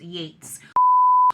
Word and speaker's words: Yeats: The unabridged early poems of William Butler Yeats, I believe I mean, it's spelled Yeats. I'm almost certain it's pronounced Yates.